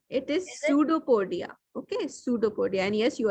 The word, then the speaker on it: pseudopodia: tell the spelling I don't know how to pronounce tell me the spelling uh PS say uh UD o p o it is pseudopodia okay pseudopodia and yes you are right okay